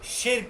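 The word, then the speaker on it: Tschirch: अब जैसे भी बेटा आप इसको प्रोनाउंस करो, शिर्क इसको प्रोनाउंस किया जाता है.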